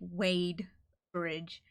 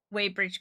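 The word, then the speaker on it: Wadebridge: No, it's Wade. like wading through water like wade bridge. No y it's w a d bridge. That's way bridge cormal. That's how you spell it. It's not way it's wade. Like wading through reads or wading through water kind of thing.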